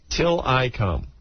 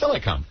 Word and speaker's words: Tillikum: Tillikum. Or Tillikum. How's it spelled? Thank you, Anthony. It's spelled T-I-L-L.